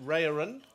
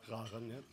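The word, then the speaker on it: Raeren: Himself, that he grew up in, should have checked the spelling, the pronunciation, Raren. Raren, yeah.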